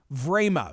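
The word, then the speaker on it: Время: television in the nine o'clock hour in moscow vrama v-r-e-m-y-a is the pronunciation quote i've been watching it frame by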